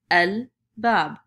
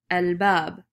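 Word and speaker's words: الباب: And I take el and then I connect the word bab to it. I'm now going to pronounce it el bab. El bab.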